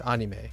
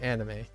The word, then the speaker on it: anime: very relevant but uh someone told me that I've been pronouncing anime wrong right but I go back and forth if I'm speaking Japanese I would use anime and if I'm speaking English I would say anime right but anime anime